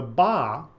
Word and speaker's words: ba: received the offerings the BAA which we can call the individual soul was another spirit soul sometimes depicted as a human with a bird head the hieroglyph itself pronounced ba is the picture of